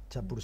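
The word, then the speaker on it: Champourcin: tiene La Ernestina de no sé si lo pronuncié bien chapur Sí señor chapur de la diputación feral de Álava el Raimundo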